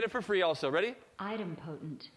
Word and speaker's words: idempotent: notes and people i would probably guess you would pronounce it incorrectly so item potent so now that's the